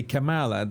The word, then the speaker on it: Kamala: the problem is that Pamela would say Pamela in Spanish. So if we say Pamela, then we say Kamala.